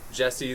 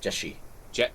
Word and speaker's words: Jeshi: It was It's just like- it was like Jesse. It's like Jeshi, Ooh. Jeshi. Yeah. Jesse.